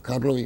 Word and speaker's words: Karlovy: University, at the Czech Karlovy University. What for medicine. What was the name of it? Karlovy University. Kadrovy? Karl, like Karlovy.